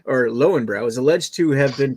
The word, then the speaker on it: Löwenbräu: Roy or you know Leuven Leuven double used to pronounce like these in german after all all right so Leuven bro or Lowenbrau is alleged to have